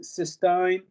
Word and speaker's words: cysteine: Should pronounce it cysteine.